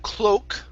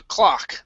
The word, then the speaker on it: clock: to the word clock instead of cloak okay this is an ah sound here um the clock the clock clock okay